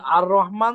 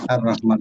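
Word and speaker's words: الرحمن: হ্যাঁ, এটা সুকুনও নিবে না, যখন সানলেটার হয় তখন লামের সুকুনও নেয় না। মানে আপনার লেখা থাকতে পারে কিন্তু উচ্চারণে হবে না, জি স্যার, রহমান এসে র ধরবে, হ্যাঁ এটা আর রহমান, জি স্যার।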